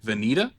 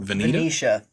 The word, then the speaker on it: Venetia: Venita Stevenson as Nan Barlow. Oh, Venetia. Venetia. Yeah, that's how Joe Bob pronounced it anyways. I should have listened to old JB on how to pronounce Nan Barlow's name.